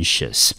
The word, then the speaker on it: anxious: xious 我们就念成 anxious，整个字好，我们就念成 anxiousanxious。